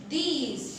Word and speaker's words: these: दोनों का सुनने में प्रोनाउंसिएशन सेम लगेगा, बट आप जब बोलोगे तो आपको ध्यान रखना है कि आप कौन सा दीज बोल रहे हो, दीस कि दीज। उसका थोड़ा प्रोनाउंसिएशन लंबा होता है, राइट?